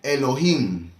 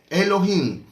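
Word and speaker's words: אלוהים: el tema de hebreo y cuando encuentres hoy no es para que pronuncie hoy sino elohim elohim pues entonces como llevaba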